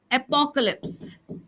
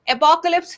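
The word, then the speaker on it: apocalypse: एपोकलिप्स। एपोकलिप्स। एपोकलिप्स। एपोक्लिप्स फिर बताऊं तबाही होना। ठीक है? इसे एपोकलिप्स पढ़ते हैं। एपोकैलिप्स नहीं पढ़ते।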